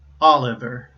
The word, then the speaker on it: Oliver: Finally, my family name, my last name, is Oliver. That's three syllables. And you see that the second two syllables, the last two syllables, I should say, Oliver, right? Those both begin with consonants, and the previous syllable ends with a vowel.